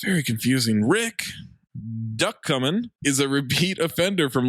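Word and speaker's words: Ducommun: you run now that how do you pronounce it duck coming duck coming that's a duck that's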